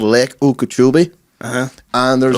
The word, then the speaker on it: Okeechobee: No, Okeechobee, lad, it's called. Do you want to spell that for me?